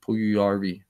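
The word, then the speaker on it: Puljujärvi: pull you ERV but I'm sure that J is silent pull you long ER v pull you yarby okay I tried McDavid Hopkins that's interesting and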